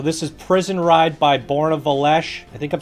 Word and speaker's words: Borna: So this is Prison Ride by Borna Velesh. I think I'm saying that right. We talked about this. I messaged him. He said Born A. It's pronounced like A. A, man, like Canadian A.